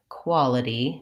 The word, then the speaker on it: quality: it E it e the problem there is that we don't actually say an aspirated with a puff of air T sound there we say it more like a D so this is our flap T and so trying ed